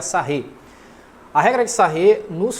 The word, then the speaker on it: Sarrus: A regra de Sarré se escreve assim mesmo, tá, pessoal? Sarrus, se pronuncia Sarré.